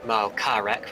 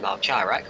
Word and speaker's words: Malkarek: And I can see, for example, on my second screen here that Christian Malkarek, for example, is pronounced Malkarek rather than Malcharek, which I've been saying in previous years.